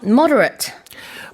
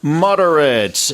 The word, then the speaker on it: moderate: It could be moderate or moderate. In terms of the spelling, it's the same, but it can't be pronounced two different words. But the meaning changes based on the pronunciation.